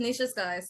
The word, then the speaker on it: Nisha Sykes: your name is that the best way to pronounce it no it's just Nicha SK yep that's awesome cool cool cool um for